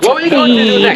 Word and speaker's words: Teide: Teide, Mount Teide is the pronunciation.